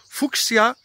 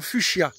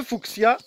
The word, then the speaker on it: fuchsia: joël aujourd'hui je vais aborder le genre fonctionne fuchs ya ça vous parle ah je vois que certains tics un peu alors je vais déroger à la prononciation en vous disant fuchsia ah voilà ça on éclaire davantage et pourtant